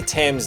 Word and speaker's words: Thames: Oh, if only Thames did rhyme with James.